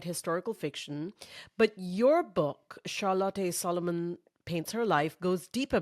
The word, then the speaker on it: Charlotte Salomon: The title of my book is Charlotte Salomon paints her life.